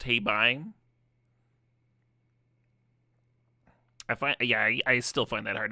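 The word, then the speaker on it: Hei Bai: Panda is pronounced Heibai.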